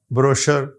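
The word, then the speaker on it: brochure: अब हम देखते हैं वड द फ्रेंच ओरिजन जो फ्रांसीसी जुबान से लफ लिए गए हैं उनको जब हमने सी एच के साथ लिख यानी वहां यह जुबान जब इस्तेमाल होती है तो उनके हां यह श की बात देती है एस एच की बात देती है जैसे आप देख रहे हैं ब्रोशर शैंपेन शेफ और मशीन और मस्टे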